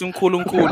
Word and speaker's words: Nkulu: Say it right. It's Nkulu, okay.